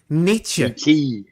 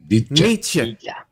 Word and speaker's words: Nietzsche: It's not that's not a hard E on the end of that name. Nietzsche. Nietzsche.